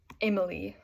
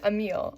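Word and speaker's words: Émile: And so Rousseau outlined a majority of his educational philosophy in his novel, Emily, or I believe it's pronounced Emile, maybe. It's French, Emile, or On Education.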